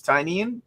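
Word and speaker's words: Tynion: coming out this is the james tinian it's how you pronounce it jess tinian tinian okay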